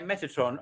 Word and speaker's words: Metatron: to just ask if I'm pronouncing it correctly and correct me if I'm not um Metatron is that correct yeah Metatron um could send um some